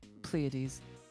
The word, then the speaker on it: Pleiades: Pleiades.